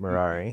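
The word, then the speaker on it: Merari: how you pronounce that marari it's like Ferrari but marari oh marari yeah yeah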